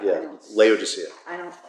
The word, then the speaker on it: Laodicea: That's the Docia. Yeah, Laodicea. I don't pronounce things correctly.